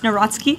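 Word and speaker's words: Nawrocki: He met with Carol Naraki, if I'm pronouncing that correctly. Yes, Natsky.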